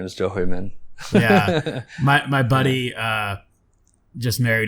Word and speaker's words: Zhou Huimin: Her name's Jo Hui-min. Say it again? Jo Hui-min. Spell it.